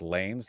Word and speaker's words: Lanez: a troglodyte fine right it's pronounced like Lanes not Vanessa okay I don't know anything